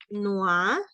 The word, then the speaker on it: noir: También en el negro, en femenino se dice noir, en masculino se dice noir, en femenino se dice noir.